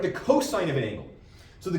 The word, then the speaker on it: cosine: We don't say cos, we say cosine. We don't pronounce the abbreviation.